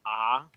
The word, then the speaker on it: Arc: So I told you that they're coming out with a new Getter Robo anime, and it's written as Arc, but it's pronounced Ah. So Getter Robo Ah.